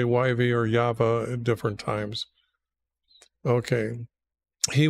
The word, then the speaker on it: Yahweh: And when you understand that the way the Hebrews pronounce it is Yahweh, so the thing here is why not just use YH?